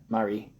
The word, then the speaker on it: Marie: Rosemary was her given name, but she went by Marie, pronounced with a broad A, less feminine sounding.